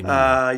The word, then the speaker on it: Miele: Si scrive Miele, si legge Miele.